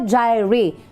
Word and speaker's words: Jireh: Jehovah Jireh, J-R-R-E-H. Tubangan ko, ari di si Bombo Jireh. Pag-pronounce sa kay Bombo Jireh nga ngalan, Jireh.